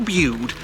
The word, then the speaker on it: Bude: So if you saw our video in Bude, apparently I was saying it wrong as well, saying Bude. I knew it was Bude, but for some reason I was saying Bude.